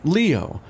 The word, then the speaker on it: Leo: Koji I did it it's written with the kanji for lion to be sure but it's pronounced Leo I wager you're impressed